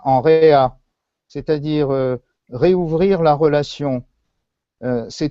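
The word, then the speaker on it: רֵעַ: Mais le même mot prononcé réa signifie l'ami, le compagnon.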